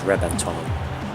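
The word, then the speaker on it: Reventón: gonna go with the rebenton i know it's with a v but in italian and spanish that can often be pronounced as a b so it's actually pronounced as rebentone beautiful car added a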